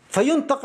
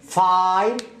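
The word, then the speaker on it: fine: هذه الكلمة فين بسبب الإي فاين، أخذها قاعدة، خذها قاعدة بنسبة 97%، يعني في استثناءات أكيد في الإنجليزي كله يوجد دائما استثناءات.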